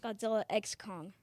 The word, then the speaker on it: Godzilla x Kong: Godzilla X Kong. X, not versus.